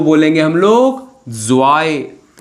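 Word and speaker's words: zwei: तो टू को बोलेंगे हम लोग जॉय।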